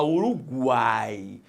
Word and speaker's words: Uruguai: Você não fala Uruguai. Pô, fui ao Uruguai. Não, você fala Uruguai. Então, se você fala Uruguai, você pronuncia o U.